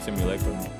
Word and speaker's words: Simulacra: Am I pronouncing that right? Weeda sauce. Simulacra?